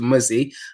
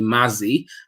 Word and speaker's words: Muzzy: it for them and even when i shorten my name to muzzy i still get people calling me mazzy i don't know how